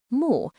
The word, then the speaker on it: 目: Today, this character is still pronounced mu, and it still means eye.